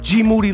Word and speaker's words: Moody: name is G Moody last name rhymes with duty this the I am